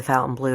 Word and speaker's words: Fontainebleau: may have noticed that the hotel took on an anglicized pronunciation of its namesake a commune in paris